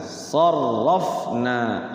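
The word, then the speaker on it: صَرَّفْنَا: Ya, jadi kalau tasydid mah enggak ada hukumnya, cuman cara bacanya memang ditekan gitu. Sarrafna. Ro-nya tafhim, na-nya mad tabi'i.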